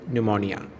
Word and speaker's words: pneumonia: This was light epidemic of flu, and there was no danger if you avoid pneumonia. Even though this word is starting with the P, it is pronounced pneumonia.